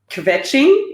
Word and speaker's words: kvetching: She talks about kvetching.